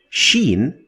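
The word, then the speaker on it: شين: on top of it Sheen is to be compared to the combination of sh in English sh not CH like the sound at the beginning of the word sharp sharp so sharp sh sound this is the sheen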